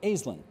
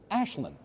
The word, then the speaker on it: Aislinn: like almost everybody does, because it's spelled A-I-S. Yes. L-I-N-N, but you do not pronounce it Aislinn. You pronounce it Aislinn.